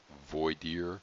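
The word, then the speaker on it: voir dire: process of WOD dear now that again pronunciation you're gonna hear a lot of different ways void ear for dear a Vlade or the reason there's so many pronunciations not that it really matters is that it's really bad french latin it's really not even proper latin but it means literally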